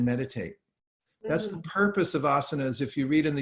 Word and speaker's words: asanas: is actually historically asanas that we people call asan's nowadays it's actually pronounced asanas but they're these are a place where you